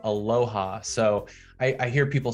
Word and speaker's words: Aloha: that on a map we pronounce it aloha okay and last on